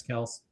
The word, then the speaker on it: Kelce: Travis Kelce is uh notice how I pronounce that, Jim. Travis Kels is done.